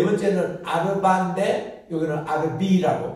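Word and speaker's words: רביעי: 네 번째는 아르바인데 여기는 아르비라고 발음하고 여기는 카미샤인데 여기는 카미시라고 서수.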